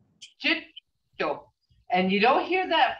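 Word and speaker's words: cetto: But when you say snake, you see that double consonant, the DD there, the double consonant right there. You gotta pronounce both of those, and that's why it means it's held a little longer. Jitto.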